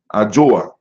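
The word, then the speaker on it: Adwoa: How you say the female name? I said the female name for Monday. Adwo. Ajoa.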